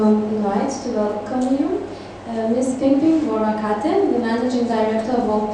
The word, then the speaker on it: Worakate: But my first name will be pronounced like Worakate. Worakate. Worakate is like a Japanese, okay, something.